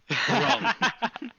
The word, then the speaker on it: Grunk: Grunk. Grok, Grunk, not Grok, Grok.